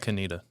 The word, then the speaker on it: Conetoe: How about Canita? Canita? Yeah. Yes. Did you call it remember. Conto? Of course I did. Yeah. How can you not? I remember. Conetoe. Conto, but it's pronounced Canita.